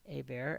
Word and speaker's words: Hebert: This is Hebert, March 17th, 2023, with some information about a portion of the Hebert or Hebert family. Hebert, as it should be pronounced, as it's a French name.